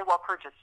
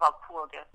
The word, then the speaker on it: Walpurgis: So, but generally in German, the G is going to be hard.